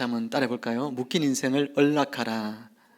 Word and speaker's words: 언락하라: 묶인 인생을 언락하라. 이 발음이 좀 잘 안 되죠? 혀끝을 저 입천장 앞에 대야 돼요. 언락하라 이렇게 돼.